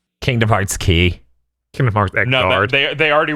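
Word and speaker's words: Kingdom Hearts χ: true i actually it's pronounced the x kingdom heart it's x it's pronounced key kingdom hearts key kind of mark they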